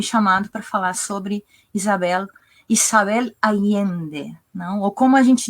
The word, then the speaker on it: Allende: A gente tem a tendência de fazer esses dois L's como um LH, Isabel Allende, não? A gente fala, mas a Isabel é chilena, então a pronúncia dela é Isabel Allende, algo assim, né?